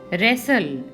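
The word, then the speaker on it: wrestle: line करेंगे next है रैसल रैसल में डब्लू हमारा साइलेंट है तो डब्लू को हम अंडरलाइन करेंगे नेक्स्ट हमारा हाफ मेल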